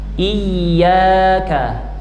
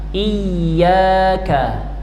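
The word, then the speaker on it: إياك: Iya ditekan tapi tidak sampai hilang suaranya. Iya. Iya. Itu juga kurang tepat. Iyaka iyyaka iyyaka na'budu wa iyyaka nasta bersama.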